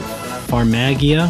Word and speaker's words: Farmagia: And hey, there's a new farm game called Farmagia. Was it how they pronounced it?